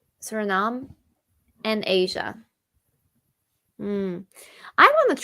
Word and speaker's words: Suriname: eaten across the Caribbean's Suriname is that how you pronounce it yeah I'd say Suriname Suriname and Asia I want